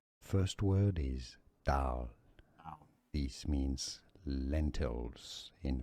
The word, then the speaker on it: dal: Let's start to learn how to pronounce it correctly. First word is dal.